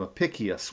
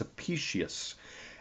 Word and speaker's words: Apicius: Um, Apicius, by the way, a couple of shows ago I called him Apicius. Well, it's not Apicius. I finally learned from an Italian friend how to pronounce his name. It's Apicius, and he wrote dining